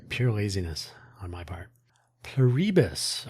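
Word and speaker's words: Pluribus: Pluribbus or plur one bus if you like plur one pus on Apple TV.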